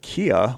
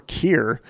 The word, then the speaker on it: Kia: Spare used the term Kia, which he pronounced Kia or Kir, to refer to the universal mind or ultimate power.